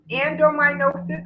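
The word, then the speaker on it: adenomyosis: and one question says and hopefully i can pronounce this right but it's what is endominosis and they're spelling it a-d-e-n-o-m-y-o-s-i-s and is there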